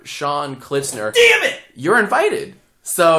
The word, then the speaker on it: Klitzner: unpronouncable how do you how do you say your last name it's kitner D Jack Jack what dner